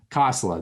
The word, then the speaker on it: Kosela: So is it Callie Casilla? How do you say it? Kosela, thank you.